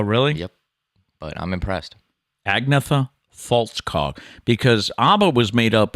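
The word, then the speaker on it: Agnetha Fältskog: I was interested to see how you were going to pronounce that name. Oh, really? Yep. But I'm impressed. Agnetha Faltskog.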